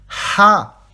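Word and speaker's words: ح: Ha. Ici, vous sortez de l'air de votre gorge. Ha.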